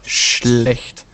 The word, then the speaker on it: schlecht: It's pronounced schlecht. Schlecht. Schlecht. Yeah, it's really hard. It's this sh. This sh you pronounce like to be quiet. So sh. Sh. And this is ch. It's so like a kitty do.